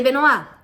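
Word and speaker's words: Benoît: Só que o Beno dela se escreve diferente, se escreve assim, ó. Ba, só que se lê Benoa.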